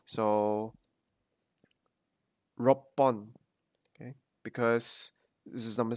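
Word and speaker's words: 六本: To change it from Hon, to attach the number to the counter, you would change the pronunciation from Hon to Pon or Bon, depending on like which number it is.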